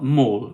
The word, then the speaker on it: Molde: It's not Mal, Molde.